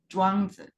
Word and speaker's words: Zhuangzi: I believe the name is Kwanzaa. It's written in English Chuang like Lao Tzu, but Okay, pronounced in Chinese Zhuangzi.